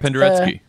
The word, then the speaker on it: Penderecki: Penderecki. Patrick? I don't know. Patrick just gets all crazy with the pronouncing this name.